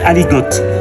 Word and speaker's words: aligot: Yeah, ça s'écrit aligot. Mais ici on dit aligot.